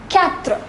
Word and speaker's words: quatre: Number 4 is quatre.